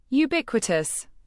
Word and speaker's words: ubiquitous: Pronounce it as you big what toes. The first you sounds like you the big you like big the you a like what and toes like t u h s.